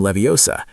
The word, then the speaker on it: Leviosa: When Hermione said, It's Wingardium Leviosa. She was teaching us the importance of stress on the right syllables. In English, where you put the stress can change the meaning of a word or make it sound more native.